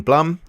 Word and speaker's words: Blum: Patton Oswalt and Jordan Blum. I keep getting his name wrong. I keep saying Jordan Bloom. Apparently it's Jordan Blum.